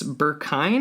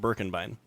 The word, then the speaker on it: Birkenbein: happy to welcome Burkine. Am I pronouncing that correctly? No. And actually, it is probably the worst pronunciation I've ever heard. Oh, man. How do you pronounce your last name? It's pronounced Birkenbein.